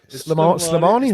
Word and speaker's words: Slimani: Slimany. Slimany. I still can't remember whether it's Slimany, Slimani, or Slimani. Slimani. There you are.